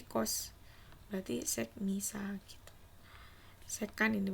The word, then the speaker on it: sekan: Sekan ini bacanya, sekan.